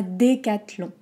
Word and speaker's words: Décathlon: ça marche dans les commentaires ensuite on a décathlon décathlon hockey des d'être entre crisper un sourire